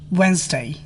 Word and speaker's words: Wednesday: e muscle silent D D is not pronounced in the following common words handkerchief sandwich Wednesday silence e is not